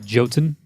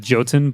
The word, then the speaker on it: Jotun: This one, the developers said it's called Jotun. Jotun? They said Jotun, but it's actually pronounced Jotun. It's like Jotunheim. It's that.